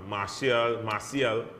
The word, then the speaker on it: Martial: and I think now that Solskjaer has been confirmed, man, like as you were saying, man, like Martial, as is the French pronunciation for those of you out there in TV land.